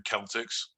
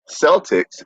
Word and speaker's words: Celtics: from Farmingham is curious why Celtics is pronounced with a soft C well in all other uses it's pronounced for the hard sea like Celtic music and Celtics culture so uh they put the question to the Boston Celtics and they simply said that that was how Walter Brown the founder wanted to pronounce wanted it pronounce when he founded the team in 1946.